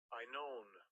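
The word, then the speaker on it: Aenon: You pronounce that. Strong. G37. I known I known.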